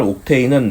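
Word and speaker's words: octane: 그래서 우리나라 발음기로 옥탄이라고 이걸 읽는데, 외국 사람을 붙잡아 놓고 이걸 발음하면 옥테인이라고 발음을 해요, 실제로.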